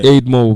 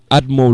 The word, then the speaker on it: ADMOW: créer tour bi à la base prononciation wu A laa bëggoon andi. ok Edmo mais gars yi Admo la ñuy faral di wax. parce que c'est écrit Admo.